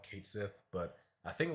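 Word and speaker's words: Cait Sith: name now I know for the longest I've called him cat uh Kate Sith um I think that's like the official name they go by now Kate Sith but I think like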